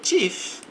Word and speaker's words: chief: The the chief. Aqui vai ter um T antes do ch na pronúncia.